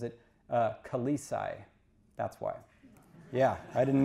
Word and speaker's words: Khaleesi: And so the proper pronunciation is Khaleesi.